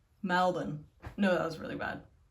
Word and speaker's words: Melbourne: I used to say Melbourne. And then my sister was like, "No, it's Melbourne." And I was like, "But there's still an R in it, but the Australian people just don't say the R."